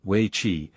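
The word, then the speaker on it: wei qi: China's most enduring game is We Chi, pronounced roughly Wei Chi, and often known in the West by a variation of its Japanese name, Go.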